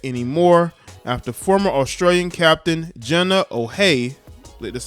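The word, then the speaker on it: Jenna O'Hea: But after this weekend, not sure you can say that anymore after former Australian captain Jenna O'Hay, that's how you say her name, confirmed that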